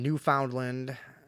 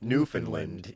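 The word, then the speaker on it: Newfoundland: user from New Foundland how do you say that somebody tell me in there is it new you really say it like New Foundland or is it like Newland yeah that's what I thought Newland nin has reportedly spotted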